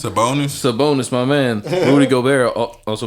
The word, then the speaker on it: Sabonis: So I can't even pronounce this man's last name. It's Sabonis, my man.